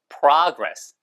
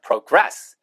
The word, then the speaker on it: progress: progress pr트 있어요. progress 그다음에 얘가 동사일 때는 progress progress 하고 있습니다.